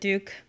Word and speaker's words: Duque: That's a long story, but Duque. Duke.